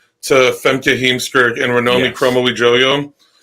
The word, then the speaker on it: Kromowidjojo: So she's like sort of been the spiritual successor to Femke Heemskerk and Ranomi Kromowidjojo. Like, perfect pronunciation of that last name.